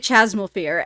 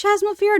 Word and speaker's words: Chasmal Fear: Well, for everyone who's curious about the name, I did a lot of research regarding that, and Americans pronounce it Chasmal Fear, but British people pronounce it Chasmal Fears.